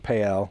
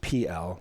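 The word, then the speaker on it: Pe Ell: Right outside of a town called Pael, or I guess it's actually pronounced PL, but I refuse to say PL because that's disgusting. PL.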